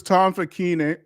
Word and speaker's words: Facchine: That's the correct way to say it, right? Yes. Am I the best person who's ever said it? Yeah, his name is Tom Facchine. All right, it's an Italian name.